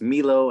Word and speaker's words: Milo: the world around them um my name is Milo I pronounce it meatloaf you would not know that